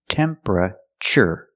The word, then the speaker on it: temperature: Not temperature, but temperature. The TU makes a ch sound like chicken. Temperature. Remember, it's 3 syllables. Temperature. Not temperature, not 4 syllables, but 3.